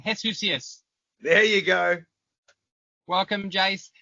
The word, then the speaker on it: Heshusius: for today and with me as always Jason jusus no that's wrong hesus there you go welcome Jace it's gonna take